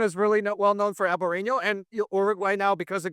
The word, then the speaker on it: Albariño: in the North American market making the people pronounce Albariño, first of all, because it's Albariño. So I made a reel about every market trying to pronounce Albariño. It's Albariño.